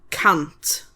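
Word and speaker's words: cant: So then we get to 100 which is can't.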